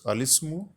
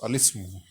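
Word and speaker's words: الاسم: अल इस्मु, in fact it is al ismu, because Hamza will not be pronounced, so we shall pronounce a kasra on lam. It will be pronounced as al ismu, the name, naam.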